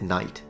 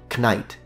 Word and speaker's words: knight: people didn't pronounce it knight. Well, first of all, the K was absolutely fully pronounced all the way up to, I want to say, the 1800s at least. So it would be knight.